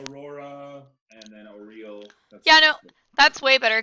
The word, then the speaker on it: Auril: Oral. Oral. Oral. I think it's actually pronounced Oriel.